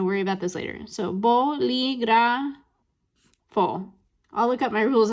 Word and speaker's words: bolígrafo: So if we break this down, then we end in an O, a vowel. So that means we're in rule number 1. So if you think back to rule number 1, where should that spoken stress go? It should go here, right? Bolígrafo. But notice, that's not how I said it. I said bolígrafo.